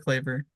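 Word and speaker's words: Kleber: trade in which La got Luca donic Maxi clayer is that how you say his name yeah clber clayer yeah I don't know why I when I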